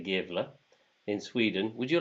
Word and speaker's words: Gävle: In the town of Gävle, I'm going to say Gävle, in Sweden.